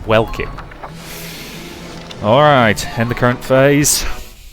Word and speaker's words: Welkin: Why do I keep wanting to pronounce it Velkin, even though I know it's Welkin?